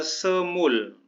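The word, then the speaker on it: 스물: Sal umurnya 20 tahun 20 adalah semul tapi jangan dibaca l-nya semu kemudian Sal jangan lupa belakangnya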